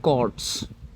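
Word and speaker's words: chords: तो हां, इसको बोलते हैं कॉर्ड्स। Spelling C एच ओ आर डी एस।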